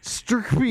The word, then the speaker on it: STRCPY: Can you try to pronounce it? Sturkby.